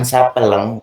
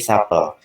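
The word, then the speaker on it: s'appellent: Bukan sapeleng, bukan sapeleng, tapi sapel. Kenapa ENT ini nggak dibaca?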